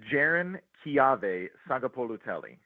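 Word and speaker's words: Jaron-Keawe Sagapolutele: Uh but but can you go can you give us the Cal quarterback pronunciation cleanly? Yes, it is Jiren Ki Saga Poloelli.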